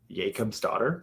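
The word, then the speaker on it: Jakobsdóttir: do you say that Katherine Jacob's daughter Jacob's daughter that's how you say that name yeah interesting read it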